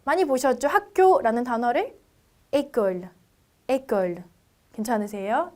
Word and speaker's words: école: 학교라는 단어를 école. 괜찮으세요? 자, 그렇기 때문에 액센트의 이름이 아주 중요하다라기보다는 알파벳일 때 발음과 액센트를 붙였을 때 발음의 차이 정도만 여러분들이 이해하시고 발음을 해주시면 되세요.